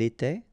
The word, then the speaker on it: était: Remember, final S, here, here, final T, and then here, and T. You don't pronounce them. So you will get était, okay, for all these forms, okay?